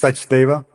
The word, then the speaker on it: Sachdeva: Welcome, It's Sachdeva. Sachdeva. Okay, I'm sure you've heard so many pronunciations, it's not even funny, but we appreciate you coming on.